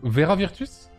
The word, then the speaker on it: Vera Virtus: Allez, on les accueille, on va accueillir Vera Virtus et Pianoman dans le vocal, messieurs, dames. Bonjour, bonsoir. Bonsoir. Bonsoir. Bonsoir. Alors, comment se prononce ton pseudo? C'est Vera Virtus?